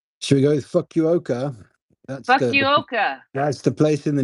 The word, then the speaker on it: Fukuoka: Now, please, Sir Dom, give me an inappropriate Japanese name because I can't pronounce anything. Should we go with Fukuoka? Fukuoka.